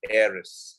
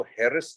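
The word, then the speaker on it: heiress: शी इ a rich एरिस इसको हेरेस नहीं पढ़ेंगे please class it's pronounced as एरिस सो शी इज द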